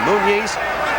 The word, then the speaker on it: Muniz: Muniz, which is the way they've asked us to pronounce his name, Muniz, floored Palomino in the very first round that time and was dominant in the early rounds.